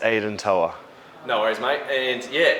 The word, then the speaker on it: Aidan Toua: Yep, it's Aidan Toua.